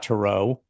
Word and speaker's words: Turow: There's a very famous novelist named Turow, Scott Turow. Any relationship there? No, we both pronounce it Turow, actually.